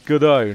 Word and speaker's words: Gadot: or two notable exceptions, like Gal Gadot is Gal Gadot, not Gal Gadot. She's not bloody French. Yeah, it's Godot. No, actually, it's Godot because she's not French. And the soft vowel sound like that is a French pronunciation.